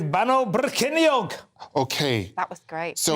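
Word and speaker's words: Bannau Brycheiniog: It's Bano Brycheiniog.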